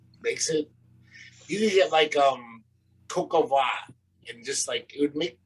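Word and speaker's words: coq au vin: It's spelled V-I-N. Cocoa va. No, that's how French people say that. Cocoa va.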